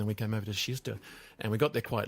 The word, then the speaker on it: Kista: I understand over there today, and you're in Kista. I've learnt to pronounce it properly, about 20 minutes north of Stockholm near the airport, aren't you, from memory?